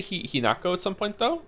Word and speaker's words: Hinako: Hineko. Didn't they say Hinako at some point, though? I remember it being pronounced without the ne.